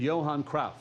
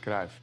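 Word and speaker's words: Johan Cruyff: The best player on that team and the godfather of total football was this guy, football legend Johan Kra. It's pronounced Krav.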